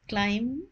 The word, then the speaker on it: climb: Remember the pronunciation of climb, be silent, climb the tree.